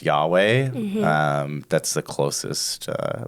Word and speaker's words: Yahweh: Uh which we would now pronounce Yahweh.